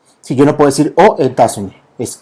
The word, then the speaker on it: États-Unis: Si yo no puedo decir aux États-Unis, es aux États-Unis. Ok, hacemos una alianza fonética que permite precisamente entender cómo se pronuncia este país.